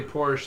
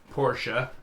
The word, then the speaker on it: Porsche: just like a lot most americans say porsche and it's actually porsche yeah but um but